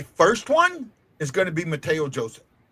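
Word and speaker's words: Mathieu: be wrong, but I've it's always been Matthew to me. I thought it was Matteo. Yeah, it is Matteo. Well, they it's M A T H I EU.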